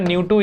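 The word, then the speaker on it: ν: तो ये हो जाएगा न्यू2 इक्वल्स टू k टाइम्स न्यू1, ठीक है. ये आपको रिलेशनशिप दिया हुआ है. This is नॉट v, this is न्यू. इट is said as pronounced as न्यू, that's frequency, right, ठीक है.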